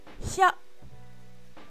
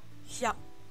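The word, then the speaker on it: ひゃ: Et non, ce n'est pas Cho, malheureusement. Et oui, on a des bonnes réponses dans le chat, bien joué. Ça se lit Hya. H-I plus petit ya. Hya. Hya.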